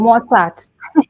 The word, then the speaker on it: Mozart: And I also started listening to Mozart. That's how you say it, right? Um, and as I It's was Mozart.